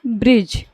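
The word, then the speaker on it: bridge: यही चीज है य हम डी को क्या करेंगे साइड कर देंगे और पढ़ देंगे इसको क्या ब्रिज ये हमारा क्या हो जाएगा ब्रिज हो जाएगा ब्रिज मीस फूल होता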